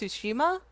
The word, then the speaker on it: Tsushima: Is it pronounced Tsushima?